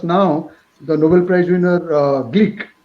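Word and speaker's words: Glück: the nobel prize winner gleek not glock the pronunciation is greek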